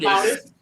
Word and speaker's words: flautist: In between she's a professional flautist. Oh, you pronounce it flautist? Yes. That's how it's pronounced.